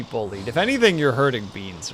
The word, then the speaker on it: B9eans: Beans. The 9 is silent. Oh, whoops, I didn't read that part. Beans.